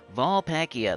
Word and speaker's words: Vulpacea: Then we got the weekly preview for Vulpekia. Vulpacia.